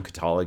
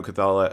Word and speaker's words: Cathala: very very influenced by Cyades, the old Bruno Catala game. Um, and I want to say Bruno Feduti uh also worked on that was like I know right. I have terrible pronunciation. Clades was Bruno Cathala.